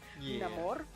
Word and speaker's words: Namor: pronounce it that way because that's how he pronounces it, Namor, um is very Maya inspired.